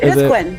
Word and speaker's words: Quinn: Houston and can you tell us how did Queen the brain no it's it's not Queen it's King how how do you pronounce King the Quin ah Quin ah Quin Quin the rain yeah